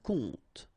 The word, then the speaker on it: compte: Un compte. Un coup. And then un coup. Alright, so you can see that you get this final P here, but then you don't pronounce it.